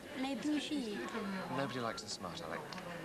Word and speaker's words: les bougies: Pronounced les bougies.